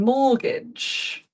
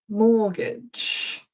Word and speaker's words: mortgage: Mortgage. Mortgage.